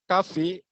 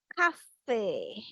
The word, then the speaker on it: coffee: Watch the ball while drinking coffee with friends, and it's very exciting. That's all. Thank you. That's all. Okay. So the pronunciation, yeah, it's not cafe. Coffee. It's coffee. Coffee. Yes, it's coffee.